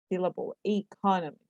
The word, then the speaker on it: economist: There are 4 syllables in economist with the stress on the second syllable, economist. He just finished writing?